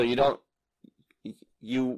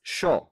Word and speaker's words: yo: But in Argentina, it's sho.